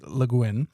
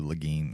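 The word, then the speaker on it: Le Guin: the preview from last week I got her name wrong it's not g it's leguin I I always said Leen or leg yeah everything everything I've seen is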